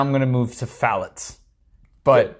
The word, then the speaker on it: phthalates: It's actually phthalates. It's the I'm going to spell it for everybody, the okay?